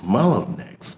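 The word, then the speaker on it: Mellanox: chip maker is, in addition, suspected of violating commitments it made during its acquisition of the Israeli chip designer Malonex. Yes, that's how it's pronounced.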